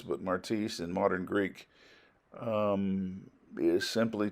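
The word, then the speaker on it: μάρτυς: There should be obvious concerns and problems about that, but in any case, the word martis, some would pronounce it martus, but martis in modern Greek is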